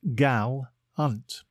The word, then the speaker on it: gallant: a time today's word is Gallant it is pronounced Galant and spelled g a l l a NT